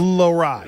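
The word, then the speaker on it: Lohrei: Lowride.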